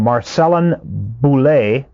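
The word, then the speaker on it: Marcellin Boule: There's a guy by the name of now gone, but a guy by the name of Marcellin Boulay, I believe it's pronounced, he's French.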